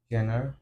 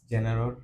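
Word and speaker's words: genre: alright তারপরে তারপরের word জি ই জি ই এন আর ই কি বলবো আমরা জেনার ইটস জেনারেলর কাছাকাছি এইটাও আসলে অনেক মানুষ হ্যাঁ মিসপ্রোনাউন্স করে সিনেমাতে অনেক ধরণ আছে না যে কোন ধরনের সিনেমা তো আমরা এটাকে অনেকে অনেক ভাবে বলে যাই হোক but pronunciation should be জানরা জি এন আর ইটস জানরা জানরা right next আমরা আরো পাঁচটা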